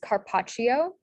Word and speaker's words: carpaccio: hint here is that the cha sound in italian is spelled with a cc or cci um and so then you get the correct spelling of c-a-r-p-a-c-c-i-o so that's carpaccio yeah another example in italian